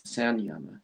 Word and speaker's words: Samyama: Well, what's the two primary things they teach in Samyama yoga? Also, some people pronounce it as Sanyama yoga.